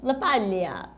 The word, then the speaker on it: LaPaglia: And by the way, I don't think we pronounce his name correctly. Isn't it LaPaglia? No, but it's Italian, it's like LaPaglia.